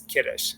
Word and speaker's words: kiddush: to this book but most people would probably be familiar with it as kiddush like okay we're going to do kiddush because that's the ashkenazics emphasize the beginning of the word uh the beginning syllable and not the ending so just a little